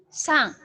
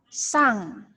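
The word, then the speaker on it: さん: Meskipun ada huruf N, perhatikan, meskipun ada huruf N di sini, bukan berarti pelafalan kalian N juga. Kalau sudah ada huruf mati atau N di akhir dari kata tersebut, maka dia akan berubah menjadi eng. Pelafalannya menjadi eng. Jadi, kita akan mengucapkan dengan kata sang. Bukan san, tapi sang.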